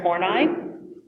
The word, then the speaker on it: Horney: Two really important figures in this group were Alfred Adler and Karen Horney. That is how her last name is actually pronounced.